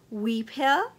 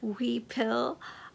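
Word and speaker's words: huipil: of uh this colorway it is spelled h UI p i l and pronounced uh weel I hope I'm saying that sort of right we pill um and um yes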